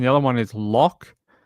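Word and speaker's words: Loch: The other one is lock like I guess like a lock in Scotland, right?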